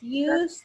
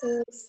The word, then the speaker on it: use: Iya, bacanya bukan us, tapi use. Okay, use. Di depan dibaca use.